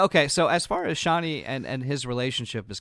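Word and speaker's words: Chani: is it Paul and channy Cheney channy uh there's arguments over like how to pronounce it but shaie is how they say sh right now the director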